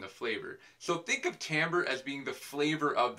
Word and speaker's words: timbre: you for that medic it's actually pronounced Tambor though that us s what I said timber timber as I said it Tambor is the unique quality